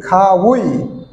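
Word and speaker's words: 가위: এটা আমি খা উচ্চারণ কেন করলাম? আমি এর আগে একটা ভিডিওতে বলছিলাম যে গিয়ক যদি শব্দের শুরুতে হয় তাহলে হবে খ, গিয়ক যদি শব্দের পরে হয় তাহলে হবে গ, উচ্চারণ হবে গ।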